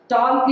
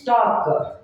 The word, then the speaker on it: talk: ಟಾಲ್ಕ್ is wrong, that is talk. L is silent, ಎಲ್ಲರದು ಅದು silent letter, so ನಾವು ಅದನ್ನ ಪ್ರೊನೌನ್ಸ್ ಮಾಡಬಾರ್ದು.